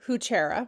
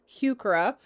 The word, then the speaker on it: heuchera: the correct pronunciation is heuchera. In the US, you often hear heuchera because we don't really say the hue part, but I apologize.